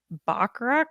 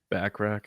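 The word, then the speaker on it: Bachrach: there uh Ebon MOS backrack is that how you say his name backrack yeah backrack uh Joseph Quinn was there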